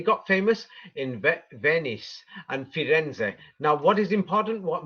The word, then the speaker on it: Firenze: And if you're in Italy, then you're actually going to pronounce its real name, and its real name is Firenze. Firenze.